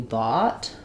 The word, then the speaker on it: bought: So in the word bought, letters OU say the ah vowel. You can think about it, for example, with a word like saw. I saw what you bought.